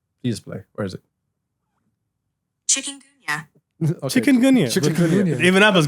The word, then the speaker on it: chikungunya: Chikungunya. Okay. Chikungunya. Chikungunya. Even Apple's going like, "Come on, guys, you can pronounce it."